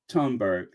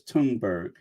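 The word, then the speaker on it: Thunberg: here happy birthday Greta turnberg now I've been saying it wrong like a lot of people is tunberg Happy Birthday Greta tunberg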